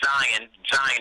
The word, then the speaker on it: Zion: Well, Jaden and Zion is the correct pronunciation.